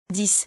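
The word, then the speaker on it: dix: Before a consonant X is silent. Example. 10 citrons. 10 citrons. When counting or alone. 10, 10.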